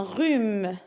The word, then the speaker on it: rhume: RH, c'est un R aussi. Un rhume.